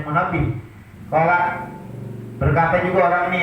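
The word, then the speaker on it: Munabbih: Qala Fi riwayati Wahab bin Munabah, berkata rawi dalam riwayat Wahab bin Munabah, dari bacanya Munabih.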